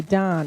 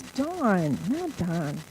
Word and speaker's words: Dawn: my first grade teacher they always used to call me Don and I'd say my name is dawn so let me tell